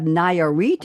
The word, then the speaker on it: Nayarit: I'm still trying to pronounce the three states. We have Guanajuato, we have Michoacan, we have Nayarit, and we have Tamaulipas.